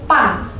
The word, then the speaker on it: ban: Untuk yang B, gue kasih kata pen dan pan. Nah, tulisannya itu B-E-N dan B-A-N ya. Teman-teman bisa baca yang kata ben ini jadi pen, dan kata yang bertuliskan B-A-N, ban, bisa dibacanya pan.